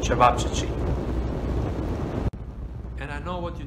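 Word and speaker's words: ćevapčići: you some traditional fast food in bosnia called chavachichi and i know what you think what yeah this is how you spell it and this is i know a tongue breaker try to save chevap chi chi and this is how they made served and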